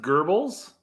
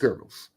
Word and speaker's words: Goebbels: And it's pronounced Goebbels?